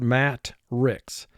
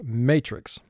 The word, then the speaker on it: matrix: Because otherwise the word would be pronounced matrix. And it's not that, it's matrix.